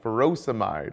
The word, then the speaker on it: furosemide: and potassium sparing diuretics potassium wasting ends in I'd like furosemide or hydrochlorothiazide both rhyme with dried but again be careful